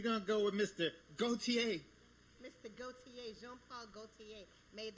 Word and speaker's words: Gaultier: Gaultier.